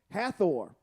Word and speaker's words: Hathor: Hathor means house of horns.